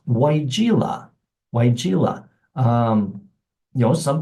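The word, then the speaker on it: Weigela: those names that is a little hard to pronounce uh it's weila weila um you know some people just from looking at it it looks like gosh it looks like a wigli um we've heard that a lot my wife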